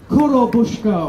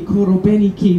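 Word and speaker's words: Korobeiniki: Korobushka, or maybe Korobeniki, we've been told slightly different pronunciations by different Russian speakers.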